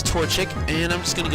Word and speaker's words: Torchic: to come back out in a torta or no toto i was looking at the name wrong his torchic and i'm just going